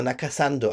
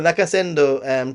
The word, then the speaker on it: Nakasendo: I'm gonna say the Nakasando. I know I'm saying it wrong, but this is how we say it in this channel. The Nakasando, the Nakasendo trail, potentially hitting some of those postal towns.